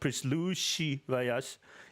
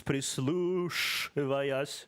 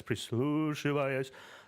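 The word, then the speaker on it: прислушиваясь: It's not sh, it's not prislushivayas, it's prislushivayas, like this, prislushivayas, like sh. See what I mean?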